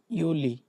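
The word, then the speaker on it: Juli: তারপর হচ্ছে কি ইউলি, জুলাইকে ডয়েচটা বলে ইউলি, ইউনি, ইউলি।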